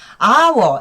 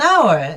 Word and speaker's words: hour: hour, h가 자음인 것 같지만 발음 납니다. 그래서 on hour 이렇게 하시면 됩니다. 원을 쓰지 말래요. 1시간 하니까 on hour라고 쓰시면 됩니다. He studied math for an hour.